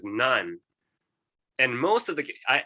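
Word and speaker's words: 何: more frequently so okay so very often pronounced as none and most of the i i guess most of the cases are pronounced none it's kind of rare to say nani because nani is kind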